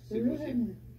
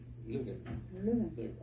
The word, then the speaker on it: Leuven: On peut prononcer Leuven. Leuven. En néerlandais, Leuven.